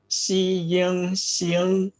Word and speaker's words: 星: 星 Yes, it's a xi, ying, xing. It is useful to begin by dividing the syllable into the initial and the final. Then practice deliberately the tone. Xi, ying, that is the initial and the final. Then the tone.